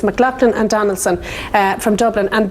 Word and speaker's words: McLachlan: and a trademark attorney mclachlan and donaldson i always say that name wrong but it's mclaughlin and donaldson from dublin